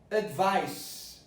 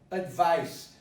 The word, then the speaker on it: advice: Now this is advice, advice. So the stress is vice. If the stress is there, the rule is, if you stress one syllable, the vowel that precedes the syllable is neutralized or becomes a schwa. So let me repeat this. Advice. Where is the stress? You're being trained to listen for the stress. So advice, it is vice.